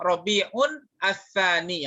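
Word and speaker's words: ربيع الثاني: Robi'un, sama juga sama Robi'un ats-tsani, yang benar begitu.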